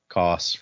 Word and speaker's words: Koss: I know my name can be hard to pronounce for you, so you can call me Koss, rhymes with cross.